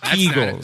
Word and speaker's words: Kegels: And it's pronounced Kegels.